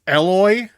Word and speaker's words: Aloy: It's pronounced Aloy.